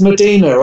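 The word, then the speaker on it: Mdina: um well yeah it's it's it's medina i thought it was spelt with an e but it's a place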